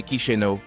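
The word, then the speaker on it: Chișinău: Moldavie avec sa capitale chizino prononcée kichenau est un joyau caché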